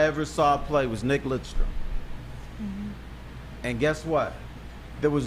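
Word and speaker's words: Lidström: Half the people thought his name was Nick Lindstrom. That's what I thought it was. Right. How you say it? What's the proper way? It's Lidstrom. Lidstrom.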